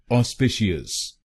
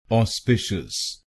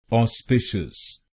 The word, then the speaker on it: auspicious: इस शब्द को कुछ लोग गलत प्रोनाउंस करते हैं, जैसे ऑस्पिशियस। आइए जानते हैं ये प्रोनाउंसिएशन गलत क्यों है और इसकी सही प्रोनाउंसिएशन क्या है। इसकी सही प्रोनाउंसिएशन है ऑस्पिशियस।